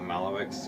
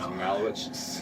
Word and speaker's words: Malewicz: name's pronounced, and I'm it's not Malewicz, it's Malewicz.